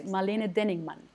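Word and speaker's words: Marlene Denningmann: or yeah like okay it's a german name so i'm going to say it very german her name is marlene denningman molina enigma enigma and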